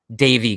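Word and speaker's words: Deivi: bro it's gotta be devi garcia davey garcia i'll start pronouncing it right from now on because i got on michael k yesterday because he all he said was tie on the whole game and it kind of pissed me off you're like you're the announcer of the yankees pronounce his name right so davey i believe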